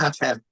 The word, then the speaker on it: Apep: there was which who you me am I pronouncing this right apep of Egypt apep apep yes apep and then there's also Satan